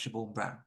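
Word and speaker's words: Siobhian Brown: and Community safety Minister shabor I believe that's pronounced Shor Brown so there's been a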